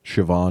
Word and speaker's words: Siobhan: Siobhan which is spelled do you know how it's spelled Siobhan do you know this thank you no it's